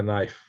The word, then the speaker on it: knife: and pronounce it right, just like the word knife. It's got a K and don't pronounce it. So I call it a knife.